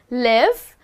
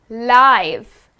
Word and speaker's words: live: L I we II but guess what the pronunciation is different we are not saying live but we are saying live and what does that mean well the word